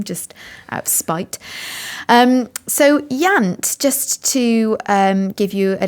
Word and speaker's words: Iant: His first novel is called Yant. That's spelled IANT, and it was released a little